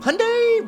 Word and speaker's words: Hyundai: Hyundai rhymes with Sunday and the mid-2010s Theta